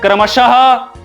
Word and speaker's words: क्रमशः: और विसर्ग लगा हो तो विसर्ग का मतलब क्या होता है? ह। जैसे मैंने बताया, कुछ एग्जांपल दिया, प्रातः, शनैः शनैः, ठीक है, क्रमशः।